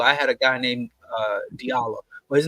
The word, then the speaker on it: Diallo: I had a guy named Diallo. Well, his name, he pronounced it Jallo.